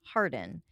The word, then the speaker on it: Harwarden: using an alias and his true name is thomas harwarden h-a-r-w-a-r-d-e-n pronounced hardin he was arrested and